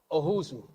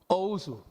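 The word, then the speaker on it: Owusu: Ohusu. Have I pronounced it correctly? Ousu. Mr. Ousu.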